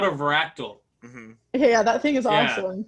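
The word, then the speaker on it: Varactyl: yeah i had to i had to look at about how you pronounce it so i'm a professional now veractal fractal yeah fractal yeah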